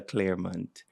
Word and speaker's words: Clermont: we have our dear beloved teacher Professor Angela Claremont uh nram that's all you're pronouncing yes yes I got it excellent welcome